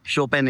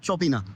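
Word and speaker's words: Chopin: यहां पर लिखा है सी एच ओ पी आई एन ए। हम पढ़ेंगे इसको चोपीना। और बहुत से लोगों के कमेंट आ जाते हैं प्रोनाउंसिएशन पे। अब सी एच ओ पी आई एन को क्या पढ़ेंगे हम? उसको पढ़ेंगे हम चौपीना। लेकिन यहां पर बोला जाता है शोपेन।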